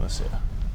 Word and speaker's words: Nokomis: Okay, so Bears guy, but because is it Nokomis? How do you say your hometown? Nokomis, yeah.